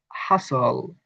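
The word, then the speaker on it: hustle: হবে তারানে আমরা বলতে পারি এটা হবে নাসল হাসল বাসল এগুলো আমার নিজের হাতে লেখা নিবেন শব্দে ভাওল প্লাস বিটি হলে বি উচ্চারণ হয় না কিন্তু উচ্চারণ হয় যেমন ভাওয়াল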